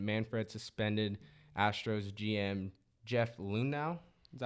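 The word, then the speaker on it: Luhnow: Astros found cheating, and Manfred suspended Astros GM Jeff Lunau. Is that how you say his name? Yeah. Yeah, Lunau.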